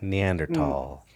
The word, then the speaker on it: Neanderthal: heard scientists say that neanderthal they don't pronounce the h or they make it a total tall you've never heard that